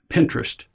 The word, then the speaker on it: Pinterest: go online at to Pinterest just Google it sounds just like sounds like interest with a p in the beginning I mean that's how